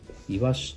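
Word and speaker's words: 鰯: イワシと読みます。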